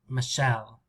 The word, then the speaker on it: Michelle: where is this dress michelle michelle listen to me in english american english michelle michelle it's on the second right longer and louder shell michelle michelle i think this is